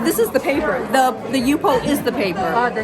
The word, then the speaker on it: Yupo: Yeah, so that's how do you pronounce it? Yupo? Yeah, Yupo.